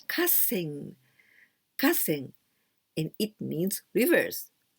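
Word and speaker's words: 河川: And niji jukugo here, we pronounce kasen.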